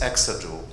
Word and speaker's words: exajoule: So first of all, this symbol EJ is exajoule. You know, that's the correct pronunciation.